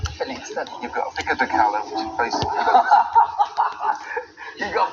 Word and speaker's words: pico de gallo: When you see a double L in Spanish, you don't pronounce it like 2 L's. You pronounce it somewhat like a Y, depending on what country you're from and everything.